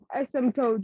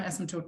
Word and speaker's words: asymptote: How do you pronounce that word? Asymptote.